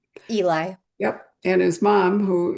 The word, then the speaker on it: Eli: Or is that how you pronounce his name? Eli.